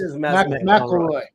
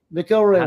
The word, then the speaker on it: McElroy: Do I ever say your name right? I can never say McElroy. Not yet, but that was close. McElroy. McElroy. Damn, dude, I've always butchered your last name. You know what? I've said McElroy, so I'm with you. McElroy works. That's the other pronunciation.